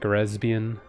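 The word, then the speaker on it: レズビアン: made me think about how how you pronounce lesbian in Japanese. And since they don't have the L, you know, you have to say it with an R. So it's like resbian. Resbian.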